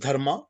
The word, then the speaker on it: Dharma: four words are dharm Earth sorry can you spell it for me dharam is Dharma d-h-a-r-m-a Earth is a r t h calm